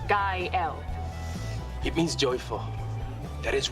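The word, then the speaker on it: Gael: Gail. I'm sorry. Gail. Kyle. Kyle. Kyle. Girl. It's pronounced guy L.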